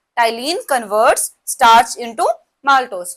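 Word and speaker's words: ptyalin: दूसरा नेम याद रखना टलीन पी साइलेंट है पी टी वाई ए एल आई एन ये सलाइवरी एमाइलेज़ का दूसरा नेम है। करता क्या है? स्टार्च को माल्टोस में कन्वर्ट कर देता है। टाइलीन कन्वर्ट्स स्टार्च इंटू माल्टोज़।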